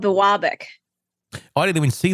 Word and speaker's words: Biwabik: United States is going to screw up the pronunciation of the city. It's called Biwabik.